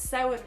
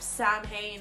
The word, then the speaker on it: Samhain: Like if anything, you learned how to pronounce Samhain properly instead of Samhain like they say in Halloween and in many other